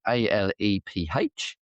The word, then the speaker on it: Aleph: at this, but I'm going to go with Aleph, which is A L E P H.